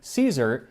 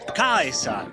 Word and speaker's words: Caesar: 1 Century BC Rome which would be with a hard sea so instead of Caesar he pronounces it AUST kaisa and attention to detail